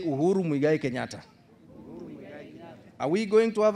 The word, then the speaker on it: Uhuru Muigai Kenyatta: Can you pronounce his names properly? Loudly? All of you together? Say Uhuru Muigai Kenyatta.